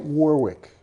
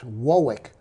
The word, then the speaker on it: Warwick: at you well it's it's not quite warwick it's wowick well i'm thinking rhode